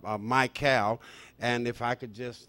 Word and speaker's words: Mikál: And it will appear as u my cal.